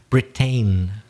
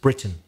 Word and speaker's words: Britain: A typical mistake, you said something like Britain. It looks like that because it's T-A-I-N, but it's not. It's pronounced Britain.